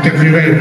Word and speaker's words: Tervuren: Tout à l'heure, nous allons commencer avec Tervuren, c'est comme ça qu'on prononce, n'est-ce pas? En français, Tervuren, ok, voilà.